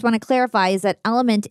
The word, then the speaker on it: LMNT: to clarify is that element is spelled lmnt it's really cool El I meant so drink